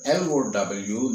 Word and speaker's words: low: COW, when it is pronounced as cow, the word LOW naturally becomes, for any logical thinking student, cow. So love. You are laughing, I know, but that's what it is. It's low.